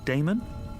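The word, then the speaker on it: Daemon: e m o n how do you pronounce that Damon if you prefer and this address I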